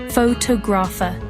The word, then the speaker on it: photographer: Take the word photograph. The stress is on the first syllable, photograph. But in photographer, it shifts, photographer.